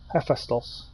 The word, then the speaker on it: Hephaestus: Hephaestus is the pronunciation.